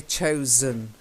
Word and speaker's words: chosen: choose chosen okay chosen although we say choices Johnson yeah we say choice but we say chosen okay chosen that's it